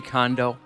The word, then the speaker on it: Kondo: Are you guys familiar with Marie Kondo? Yes. Am I pronouncing her last name correctly?